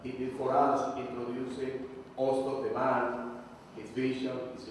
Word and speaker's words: Hostos: we have to say Hostos. Exactly. It's like that. You don't pronounce the H.